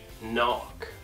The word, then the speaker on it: knock: quando nós tivermos uma palavra que tenha a letra K, e logo após essa letra K nós temos a letra N, a letra K na palavra vai ser uma silent letter. Então nós não iremos pronunciar a letra K. Como, por exemplo, knee, no, knife, knock.